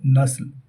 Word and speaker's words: نسل: صفحہ ہستی سے مٹانا۔ درست تلفظ ہے نسل بروزن قتل، اور درست ترکیب ہے